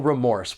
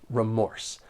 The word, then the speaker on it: remorse: when pronouncing this noun there are two syllables and the stress is on that second syllable remorse keep in mind that